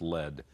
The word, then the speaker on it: lead: So the verb, 三态, lead, led, led, but lead as a noun is also pronounced lead.